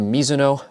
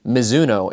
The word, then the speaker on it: Mizuno: miso actually it is miso is a Japanese last name and that is the Japanese pronunciation I am half Japanese